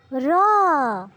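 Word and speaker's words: ر: হ্যাঁ ছোট্ট বন্ধুরা, এটা হলো র। জিহ্বার আগার পিঠ তার বরাবর উপরে তালুর সঙ্গে লাগাইয়া আমরা এটা উচ্চারণ করব। এই যে দেখো বন্ধুরা, একটু খেয়াল করে দেখলেই বুঝতে পারবে বন্ধুরা, তোমরা এভাবেই র উচ্চারণ করবে।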